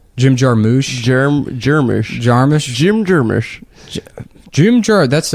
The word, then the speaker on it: Jarmusch: I don't think anyone knows how to pronounce his name. Jim Jarmusch.